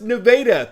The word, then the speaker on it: Nevada: nevada high school yes that's pronounced nevada thank you for watching